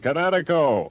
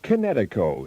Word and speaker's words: Kinetico: You should have remembered kinetic as in kinetic energy with an O on the end. Kinetico. Kinetico.